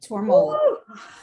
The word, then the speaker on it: Tormollen: Am I pronouncing that last name correctly? Exactly right. Tormollen.